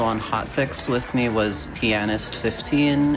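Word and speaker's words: Pianist15: Yeah, the person who was also on Hotfix with me was Pianist 15. It is pronounced, the A is overpronounced on purpose.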